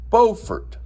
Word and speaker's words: Beaufort: The North Carolinian coastal town is pronounced Beaufort.